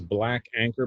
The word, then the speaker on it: BLK ANKR: social media instagram um the name of the business is black anchor but it's spelled b-l-k-a-n-k-r instagram at b-l-k-a-n-k-r uh